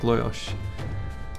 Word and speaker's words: Lajos: The guy who named it said it's pronounced something like Loyosh.